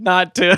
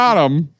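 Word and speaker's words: NotTim: Notum. It's not Notum. It's not Tim. There's a glottal stop in there.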